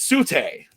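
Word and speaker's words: Tsu'tey: And it's the silent T at the front, Sute, yeah.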